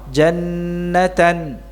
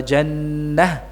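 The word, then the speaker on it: جنة: Nah, ini kalau tanwin nasabnya ada pada ta marbutah, jadi bukan dibaca wa syajarata atau jannata, salah ya, tapi dibaca dengan hak sukun. Sekali lagi dibacanya dengan hak sukun, wa jannah, wa syajarah dan wa jannah itu ya.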